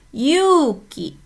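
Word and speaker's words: ゆうき: Berikutnya ada bunyi U panjang itu pakai huruf U saja. Yuki Desne Yuki. Beda dengan Yuki ya. Kalau Yuki itu dua ketukan. Kalau ini Yuki Desne hai.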